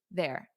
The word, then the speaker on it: they're: And notice that pronunciation of the contraction. They are. Everyone repeat to me. There. There. Repeat after me. There.